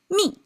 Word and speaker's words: 蜜: It's pronounced bee. So now together, 3 things stack up together becomes me.